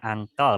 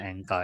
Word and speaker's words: ankle: kaki itu namanya engkel jadi bacanya ankle bukan engkol Ya baik the ini